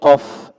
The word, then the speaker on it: ق: মান অনেক ভালো ছিল, তবে তুমি কফ এর উচ্চারণটা আর একটু সুন্দর করবে। ক হয়ে যায়, ক একটু নাকের মধ্যে যায়, এবার একেবারে গোল করে ফেলে, ওইরকম না, কলা কলা।